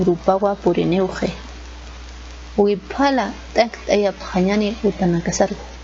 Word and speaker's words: wiphala: y para la wiphala la pronunciación en aymara la bandera se llama wiphala y así también se escribe wiphala una noche el escudo